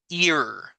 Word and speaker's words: ear: para pronunciar esta palabra la primera letra es la que tiene sonido y la segunda es muda por eso es que cuando Yo oigo que la gente Lee esta palabra no la lee como e verdad o e verdad o e sino ir la a no tiene sonido la a es muda cuando dos vocales van